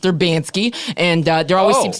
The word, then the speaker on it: Urbansky: people come in and they say, "Is this Urban Sky Wigan Weave?" And I say, "No, it's pronounced Erbansky." And uh there always seems to be some confusion. They think it's Urban Sky.